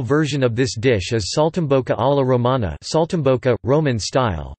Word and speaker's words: Saltimbocca: Saltimbocca, also Saltimbocca, pronounced Saltimbocca, Italian for jumps in the mouth, is an